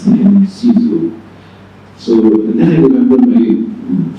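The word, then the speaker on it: Cixous: I never heard anybody pronounce Sizu. I read and were very hard. I never heard somebody. So of course I gave a very funny and very, of course, absent pronunciation. And Salim corrected me. He said that that's Sizu.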